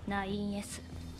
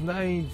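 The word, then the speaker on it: 9S: ナインズ。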